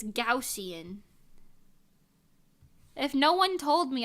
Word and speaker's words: Gaussian: point someone had to tell me that it's gaussian if no one told me I would just